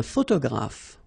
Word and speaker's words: photographe: So here PH and here PH. Pronounce it like F, f, f, f.